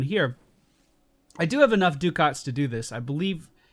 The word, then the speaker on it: ducat: I do have enough ducats to do this.